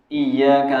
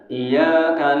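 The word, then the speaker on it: إياك: bacaannya i yauminiki yaumiddin iyaka nabudu wa iyaka nastain di sini ditasdid ada orang bacanya iaka nabudu wa iaka Nain ya Enggak enggak benar bacaannya begitu di sini ada tasdid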